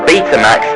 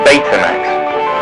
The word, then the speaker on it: Betamax: Oh, and if you're wondering, in the UK, we pronounce it Betamax rather than Betamax.